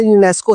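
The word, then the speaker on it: UNESCO: इसकी pronunciation यूनेस्को ही बोला जाता है।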